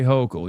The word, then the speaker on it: Hochul: Say Hochul.